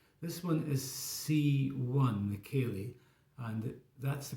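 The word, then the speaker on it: ceilidh: This one is C1, the Cayley, and that's the pronunciation of that rather strange spelling.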